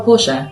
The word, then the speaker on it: Portia: And we were off to the centre and he'd said my name wrong. So when he said it, I just was like, oh, Portia.